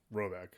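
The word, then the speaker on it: Råbäck: guard in question is to be called roebuck pronounced something like robec although that is not its name it is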